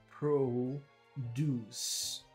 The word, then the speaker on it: produce: from number one because the accent is on the first syllable produce and do you know